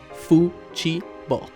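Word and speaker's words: futebol: draft of the memo spells out the Portuguese pronunciation of football as Fu Chi B gracefully redeeming ourselves from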